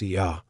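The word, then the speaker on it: Oia: At the heart of the island's allure, is the village of O Ya, pronounced Ya, the poster child of Santorini.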